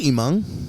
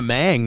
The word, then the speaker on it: Hmong: Because I say Hmong. Hmong, yeah. Oh, so you do pronounce the H? Yeah, but nowadays I've been saying it Hmong. I don't. I stay away from the mang nowadays.